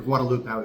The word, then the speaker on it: Guadalupe: It's Guadalupe. Guadalupe, that's the street. Or Guadalupe, as they say around here.